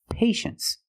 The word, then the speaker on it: patience: we pronounce it well you see t i e in the second syllable you know the t is pronounced sh so this word is patience that's right patience is